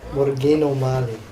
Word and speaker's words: Morgan O'Malley: To say it properly, though, there's got to be a slight tongue roll. Morgan O'Malley.